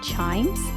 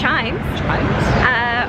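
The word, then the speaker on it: CHIJMES: So now we're off to, I think it's pronounced Chimes.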